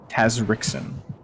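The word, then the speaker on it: Tazrixon: call you your full name uh tazri Taz Taz Ren yes hey sign here right away it's spelled t a z r IX o n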